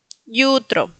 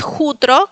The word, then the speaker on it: jutro: En el primer caso está funcionando como consonante porque tiene una vocal al lado, entonces se pronuncia como yutro. Yutro. Así de sencillo. No es jutro como diríamos nosotros, sino yutro.